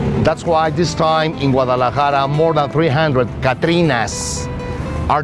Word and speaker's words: Guadalajara: Guadalajara, pronounced Guadalajara, is Mexico's second largest city.